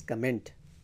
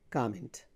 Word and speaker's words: comment: Most people pronounce it as comment. No, it's comment, comment, not comment, comment.